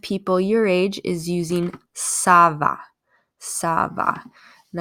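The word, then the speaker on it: ça va: using Sava Sabah and I want you to look at how this is spelled it's with a CCD and so it almost kind of makes it look like an S that's to remind you that this is making the S sound okay so don't say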